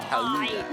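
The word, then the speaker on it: Gouda: And yes, it is pronounced Hauda, not... Listen closely, guys, because this one's a little complicated.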